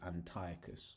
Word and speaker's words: Antiochus: more like this right so really it should actually be Antiochus right um so typed